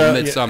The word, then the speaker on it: Midsommar: If it's you're going to Google Midsommar. It's spelled S-O-M-M-A-R, I believe. Sommer. Midsommar.